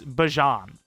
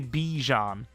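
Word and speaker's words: Bijan: It's Bjon. And I always say Bejon. It's Bjon.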